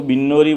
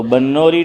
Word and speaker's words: بنوری: ادارہ ہے بنوری ٹاؤن، بعض لوگ اس کو بنوری بولتے ہیں لیکن صحیح تلفظ با پر زبر ہے۔ تو بنوری ٹاؤن، اس میں وہاں